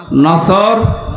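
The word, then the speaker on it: نصر: এই জন্য তেলাওয়াত যখন করবেন সোয়াদ উচ্চারণটা মুখ গোল করা লাগে।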